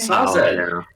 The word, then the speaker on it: Sazed: Reader pronounces Sazed's name wrong, so it's okay. Sazed. It's Sazed.